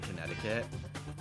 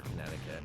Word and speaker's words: Connecticut: the second T in Connecticut contic we do we don't pronounce the second C we don't say Connecticut